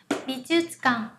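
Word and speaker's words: 美術館: Bijutsukan. Được chưa nào? Âm thư này chúng ta phát âm nhỏ, nhẹ lại. Bijutsukan.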